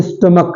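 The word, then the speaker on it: stomach: एच बिल्कुल silent है स्टमच स्टमच नहीं है स्टमक है स्टमक एच बिल्कुल साइलेंट है एक एच नहीं है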